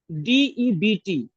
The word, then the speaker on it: debt: Date means DEBT. This is also called date. B is silent.